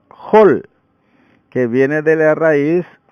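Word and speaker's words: חול: La palabra hebrea traducida como arena se pronuncia hol, que viene de la raíz hul o hil.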